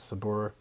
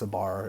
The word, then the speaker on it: Sabar: a nice side note Sabor means patience and that's spelled s-a-b-a-r so it's a bar as well if you want to pronounce it that way that most people